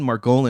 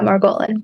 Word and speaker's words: Margolin: doubl do talk show today we have Madison margan am I pronouncing that right yeah Maran cool nailed it and uh she has been